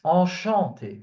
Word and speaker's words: enchanté: So it's sh sound, not chu. So it's not enchanté. It's enchanté. Chant.